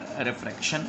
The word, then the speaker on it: refraction: सुनाई दे रहा हो, एल नहीं है बल्कि आर प्रोनाउंसिएशन है इसका, रिफ्रैक्शन ऑफ लाइट।